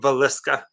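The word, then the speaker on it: Villisca: Pronounce it for me. Villesca.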